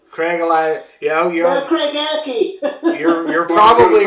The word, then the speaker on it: Craigellachie: It's pronounced Craigellachie. Cragalachi. Yeah, Craigellachie.